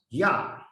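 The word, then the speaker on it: יה: So you pronounce Yah. Yah is an abbreviation of God's name.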